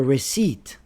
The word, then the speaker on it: receipt: The honest plumber wrote a receipt. The silent letters are H in honest, B in plumber, W in wrote, and the P in receipt.